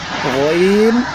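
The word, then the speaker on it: غ: ভাগ থেকে উচ্চারিত হয় গইন হ। গইন, এই যে মোটা করে, মোটা করে বলতে হবে গইন হ। অনেকে গাইন বলে, গাইন বলে খা বলে, এরকম বলা যাবে না, বলতে হবে গইন হ।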